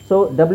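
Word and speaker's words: sword: answer ಆಮೇಲೆ ಇದು ಡಬ್ ಇಲ್ಲೂ ಡಬ್ಲ್ ಇಲ್ಲ ಸೋಡ್ ಸೋಡ್ ಸೋಡ್ ಅಂದ್ರೆ ತಲವಾರು ಇಲ್ಲೂ ನೋಡಿಟು ಡಬ್ಲ್ಓಟು ವ ಹೇಳಲ್ಲ ಡಬ್ಲ್ ಉಚ್ಚಾರಣೆ ಏನು ನಾವು ಹೇಳಿದ್ದು ವ ಅಲ್ವಾ ಸ ಇಲ್ಲೆಲ್ಲೂ ನಿಮಗೆ ವ ಸೌಂಡ್ ಬರೋದೇ ಇಲ್ಲ ಆದರೂಡಬ್ ಇದೆ ಇಲ್ಲಿ ಓಕೆ ಯಾ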